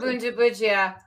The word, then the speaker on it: Bundibugyo: always back to my Soft G for for Bundibugyo, hard G for Gizaid.